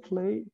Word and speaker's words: play: 그랬을 때는 I must play baseball, basketball. 뭐 이렇게 얘기할 수 있겠고요. play soccer. 이렇게 얘기할 수 있고요. 자, 그랬을 때이 pray와 play는 발음이 완전히 다릅니다. 이 R과 L 발음.